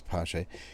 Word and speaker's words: Paasche: He confirmed that you do pronounce the E, so it is Paasche.